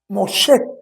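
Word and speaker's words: משה: Ahora bien, en hebreo se pronuncia, se pronuncia Mosé. Sh. Mosé, que significa salvado de las aguas.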